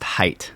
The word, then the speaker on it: Hiett: Is that the It's pronounced Hiett.